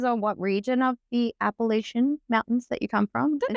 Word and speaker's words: Appalachian: But I don't want to say appalachin trail. There's no tea.